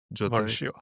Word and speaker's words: Valtio: I'm not sure if it's normal, but what I pronounce is Zastan, Jotai, Valtio.